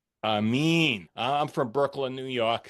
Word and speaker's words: Aramin: I'm here with Robbie Demolin and Aman. I mean, they are both I pronounced your name wrong. And Amin, I'm from Brooklyn, New York, so you got to excuse me, of course.